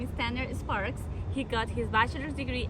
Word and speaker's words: Sparks: How do you say it? Sparks. Okay, good. You just go straight to the S.